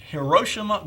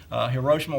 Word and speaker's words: Hiroshima: here the headline says Hiroshima girls arrive all right in reference to Hiroshima or Hiroshima for those that prefer the older pronunciation but this picture appeared in the Rocky Mount Telegram in 1955.